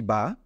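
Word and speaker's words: ب: সাথে পড়ুন খুব সহজে একবার বলুন বা খুব কষ্ট করার দরকার নেই দুই ঠোঁট দুই ঠোঁটের সাথে মিলিয়ে শুধু উচ্চারণ করুন বা এরপরে আমরা দেখি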